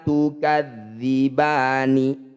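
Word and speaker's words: تكذبان: Ba ini panjangkan 6 harokat, huruf terakhir sukunkan. Tukadzibani. Ketika dihentikan tukadziban.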